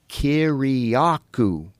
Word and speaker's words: Kiriakou: And I go, "Kiraku." Just like it's spelled.